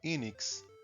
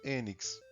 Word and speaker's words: Enix: No Ocidente é comum pronúncia mais próxima do inglês, Enix. Mas no Japão o nome da empresa se pronuncia Enix, ou melhor, Enix.